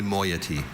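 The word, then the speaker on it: moiety: Are there any alternate pronunciations? I see only moyety.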